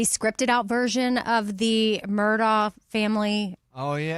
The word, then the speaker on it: Murdaugh: And it's Murdaugh. Murdaugh. Yes, sorry. It's spelled Murdaugh. Mm-hmm. But yeah, it's Murdaugh.